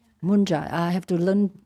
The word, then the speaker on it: munja: Then he asked Mara, do I carry, is that manja or munja? M-U-N? Mun? Munja.